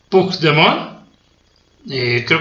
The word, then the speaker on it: Puigdemont: Cataluña estaba un tal Puigdemont, creo que así se pronuncia, espero haberlo pronunciado bien, no sé catalán, es Puig, que se escribe Puig, Puigdemont, y entonces allá en Cataluña